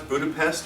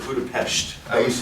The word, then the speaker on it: Budapest: Now, is that the correct way to pronounce Budapest, or is it Budapest?